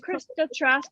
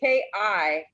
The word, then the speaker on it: Kirista: I found It it is Krista Trask, but it doesn't look like it's you because they're in Canada. No, it is Kirista. I have an extra I in there. And it's K-I-R.